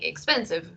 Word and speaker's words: expensive: ¿Cuántas sílabas creen ustedes que tiene expensive? En 3 sílabas. 3 sílabas. So, expensive, ¿sí? Porque la E en inglés al final es muda.